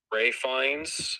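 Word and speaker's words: Ralph Fiennes: soon what i i i say ralph because it spelled like ralph all right i understand where you're coming from it's just that in interviews everyone calls them rey finds so therefore i always call me well i just call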